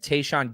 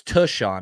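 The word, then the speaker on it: Tashaun: 31 120 days and tayshawn Gibson is 32 100 days so they're within a year of each other um but it's tushon I think I've been saying it wrong hey John what pick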